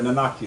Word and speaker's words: Nanaki: name / nun anchor RIT they're not sorry nanaki sorry I said it wrong you know I'm